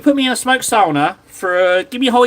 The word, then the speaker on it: sauna: Uh, sauna. Yeah, in Finnish it's sauna. That's how you say it. That's how it's said.